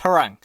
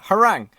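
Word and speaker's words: Harangue: Okay, so, I just googled it. It's pronounced Harang. Okay, Harang.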